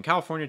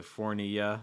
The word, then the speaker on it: California: have some issues pronouncing so cal also california cal you can also say cala but usually california usually more of a short island foreign and then notice that last syllable fornia it's like california um well sometimes some students will say fournia or like things like that just just pay attention